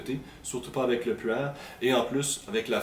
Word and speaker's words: Pu'er: En fait, puer, en mandarin, ou le plus près que je peux le prononcer en mandarin, ça ressemblerait beaucoup à pu'er.